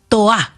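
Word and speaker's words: Tohá: Néstor primero para porque lo vamos a estar repitiendo varias veces este año es Toá con acento en la A final y sin pronunciar la H.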